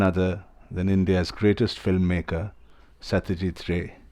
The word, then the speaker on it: Satyajit Ray: It's none other than India's greatest filmmaker, Satyajit Ray, or Satyajit Ray, as we Bengalis would like to pronounce his name.